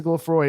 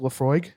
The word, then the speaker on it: Laphroaig: tasting today regular plus why are you not pronouncing the g at the end of it yeah is it laphroaig yeah there's a [